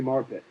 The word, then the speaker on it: Marpet: Ali Mo Ali Ali marpet from Hobart from Hobart his first his his last name rhymes with his school SB Nation is the